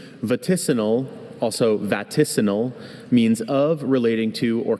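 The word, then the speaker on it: vaticinal: Vatissal. Are there any alternate pronunciations?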